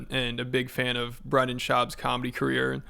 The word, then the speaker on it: Brendan: He's a homeless cat and a big fan of Brendan Schaub's comedy career.